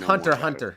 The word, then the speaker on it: Hunter x Hunter: It's Hunter Hunter. The X is silent.